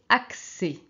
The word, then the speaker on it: accès: on a CC et quand on a après un e on prononce en français accès accesso accès oxident oxciident